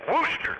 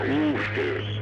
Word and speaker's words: Worcester: I was in Worcester. It's not Worcester, it's Worcester. Yeah, Worcester. No, it's not Worcester.